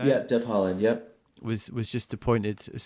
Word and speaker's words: Deb Haaland: Yeah, Deb Haaland.